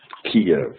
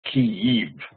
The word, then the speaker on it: Kyiv: Each vowel represents a separate syllable. Each vowel is a separate syllable. And in Kiev, in Ukraine, they pronounce it Kyiv.